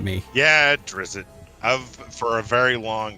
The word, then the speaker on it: Drizzt: Am I pronouncing these names correctly? You're the D&D guy here. It's definitely not me. Yeah, Drizzt.